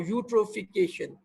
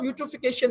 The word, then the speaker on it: eutrophication: The main pollution in water is classified under the heading of eutrophication. Spelling is correct and E is silent.